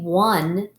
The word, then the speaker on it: won: it the next word is one like they won the game one spell it w o n 1.